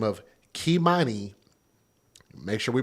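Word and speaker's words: Keimani: Now, the tragic killing of a little girl by the name of Kimani, make sure we pronounce her name correctly and spell it correctly, K-E-I, M-A-N-I, Kimani Latigue, L-A-T-I-G-U-E.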